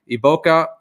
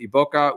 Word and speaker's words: iboga: with the medicine called iboga iboka is often how they pronounce it iboka which is a uh